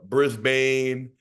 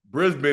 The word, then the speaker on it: Brisbane: one all right is it's Melbourne all right Melbourne like almost like almost like it's it's SP with like an e like a i in almost that's how you say it and Brisbane is like I say it's Brisbane it's not Brisbane so I'm let know